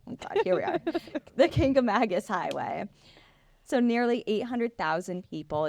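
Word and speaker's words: Kancamagus: is the uh famous kangam Mangus k kagus k there is no n there's no n except if you live here I'm going to try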